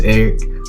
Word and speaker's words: Erich: you about myself yes my name is Eric uh the H is silent I'm not German I'm black African-American um